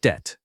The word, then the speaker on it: debt: It sounds like debt.